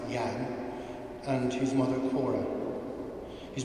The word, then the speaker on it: Jan: Dad was born on Christmas Eve in 1941 to parents Jan, pronounced Jan, and his mother Cora.